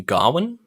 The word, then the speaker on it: Gawain: i actually really liked his name in this movie garwin yeah but it's spelt like like that gawain yeah i was [